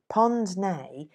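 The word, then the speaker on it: pince-nez: central south african railway pond's nay is spelled c p-i-n-c-e n e z it is a french word for the old-fashioned wire-rimmed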